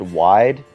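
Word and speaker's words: wijde: I don't speak Dutch, and this word is, it looks like it is supposed to be pronounced wide.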